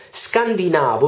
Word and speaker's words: scandinavo: un abitante della scandinavia scandinavo si pronuncia con con laccetto sulla penultima sillaba e non sulla terzultima come abbiamo sempre fatto cioè noi tutti diciamo